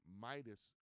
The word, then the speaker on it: Meidas: The biggest names in the space right now is without a doubt, it is what we call the Midas Touch Network. They spell it weird and different. They spell it MEIDAS.